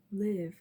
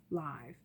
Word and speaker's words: live: cool c ool cool live or live li ve live or live it can be pronounced both ways but it still spells the same only oh and ly